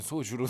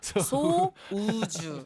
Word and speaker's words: 소우주: 네, 소주랑 방금 Into the Sun 뭔가 이거 발음 잘못하면 소주로 들려. 소우주 소우주.